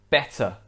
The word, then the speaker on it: better: For example, in British English, this word would be pronounced better, better. Whereas in American English, the two T's sound more like a D, like better, better.